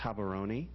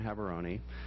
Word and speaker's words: Gaborone: that city there, and there are about 4 different ways to pronounce it, but I think the most authentic is Gaborone, and it's the capital of Botswana.